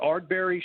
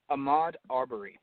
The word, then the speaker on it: Ahmaud Arbery: And then Joe will be covering another article on the, is it the Ardbury shooting? Is that what it is, Joe? Ahmaud Arbery. Ahmaud, his name is spelled Ahmaud, last name Arbery.